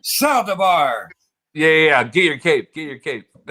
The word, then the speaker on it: Saldivar: No one ever says it right, but it's Saldivar. Saldivar. Even though I'm white, I'm Mexican. Saldivar.